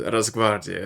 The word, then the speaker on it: Rosgvardiya: to guess that it'd be Rosgvardiya, which means Rosgvardiya, I suppose, is the more correct pronunciation.